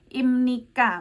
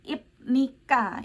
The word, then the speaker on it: 입니까: tapi harus diingat juga walau tulisannya itu ibnika kayak gitu huruf mati ya Bukan dibaca b atau P tapi dibacanya miem ya Jadi imnika bukan ibnika ya imnika bukan ibnika imnida bukan ibnida ya Sama halnya dengan